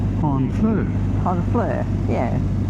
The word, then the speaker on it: Honfleur: Thought you had to come to Hornfl that's how you pronounce it. It's H O N. There's no R in it.